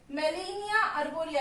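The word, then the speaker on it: Gmelina arborea: वैसे ही मेलिनिया अर्बोरिया, इसमें जी साइलेंट है, ठीक है।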